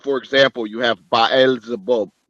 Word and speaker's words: Baal: Okay, Baal or Baal in the Bible, but Baal is how it's pronounced. Baal, Ba, and then El.